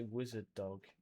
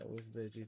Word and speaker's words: Wizard OG: That's how you say it. I was about to say Wizard Dog. Yeah, Wizard OG, thanks for the follow.